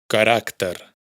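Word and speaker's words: caràcter: Por otro lado, si la palabra no es aguda y no es un infinitivo verbal, lo más probable es que sí se pronuncie. Carácter, carácter.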